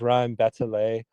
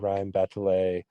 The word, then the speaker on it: rime batelée: That uses a uh uh a technique called and again, here's a little French for you um poorly pronounced, but I believe it's rime batelée and that's meaning like a bell.